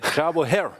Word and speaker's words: Javokhir: That was a very valuable video for me because it also kind of taught us how to pronounce his name. How how is name it? Javokhir.